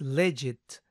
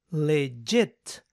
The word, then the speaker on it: legit: es leget leget recuerden no es leget sino leget acentuación en la segunda sílaba ahora si notan esta